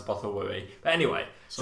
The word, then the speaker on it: Bothawui: They pronounce it Bothawui in that, so I've always pronounced it Bothawui.